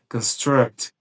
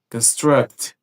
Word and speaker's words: construct: Atenção, porque caso a ênfase esteja na segunda sílaba dessa palavra, né, construct, construct, ela já vira um verbo que quer dizer construir.